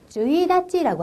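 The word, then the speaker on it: 一日: 이찌니찌 이렇게 하고 싶은데 달력상의 1일은요. 참 특이합니다. 뭐라고 합니까? 주이다찌라고 하네요.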